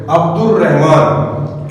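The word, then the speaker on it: عبد الرحمن: हरूफ में से है शमसी हरूफ का मतलब है अलिफ लाम में जो है लाम साइलेंट हो गया अब्दुल रहमान इसी तरह नेक्स्ट लेक्चर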